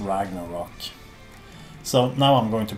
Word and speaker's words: Ragnarok: And we put the umlauts above the O, so we say Ragnarök. But the band is pronounced Ragnarok.